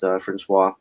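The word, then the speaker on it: François: Yes, Francois. How his name is pronounced?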